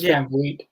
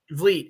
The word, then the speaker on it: Van Vliet: Yeah, Chris Van Vliet. Vliet.